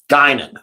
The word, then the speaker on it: Guinan: Guinan. That's how you say it.